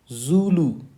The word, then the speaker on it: Zulu: So how is the letter Z pronounced in phonetics? Zulu, Zulu, Zulu.